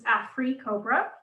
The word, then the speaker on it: AfriCOBRA: One of these collectives was AfriCOBRA. So there's an emphasis on the second syllable, which speaks to their grounding principle in Black liberation.